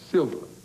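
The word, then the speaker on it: Silva: what's your first name silver how do you spell it s-i-l-v-a silver like uh silver lining every cloud has got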